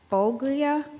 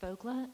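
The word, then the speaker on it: Foglia: Our first speaker tonight is Jody Bolglia. It's pronounced Fogla, and I'm here with Amanda Price.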